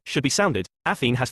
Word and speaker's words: Athene: Athene has 3 syllables, Penelope 4, here 2.